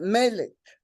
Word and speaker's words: Malik: Yeah, Melik. Am I pronouncing the name right? Melik? Peace and blessings. Malik is the proper pronunciation.